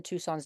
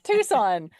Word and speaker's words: Tucson: in the U of A College of Medicine, Tucson's Department of Pharmacology. This study... Pronounced Tucson. I stand corrected. Tucson. I know, right? Tucson. I don't know what it is either. It's Tucson. It is Tucson.